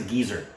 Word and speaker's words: geyser: called a geyser and it's also pronounced as a gezer in fact that's what andr called it the gezer but it's spelled g y s e r which we know is geyser geyser and what it is